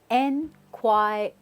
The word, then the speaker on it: inquire: talk about is inquire right how do we pronounce this it's enquire now usually a lot of people say inquire